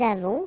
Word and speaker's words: avons: Okay, so j'ai, tu as, final S not pronounced, il a, elle a, nous avons, final S not pronounced, and then we make